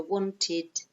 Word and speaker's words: wanted: So we do add a syllable in this case, okay, and we pronounce it id, okay, not ed, id, okay, so wanted, needed, hated, okay.